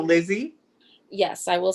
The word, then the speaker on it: Lise: so people would say lizzy and pronounce that correctly that way um so